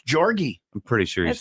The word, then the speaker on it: Jorge: I'm pretty sure it's Jorgy. I'm pretty sure he That's says a- his You're name looking- Jorge.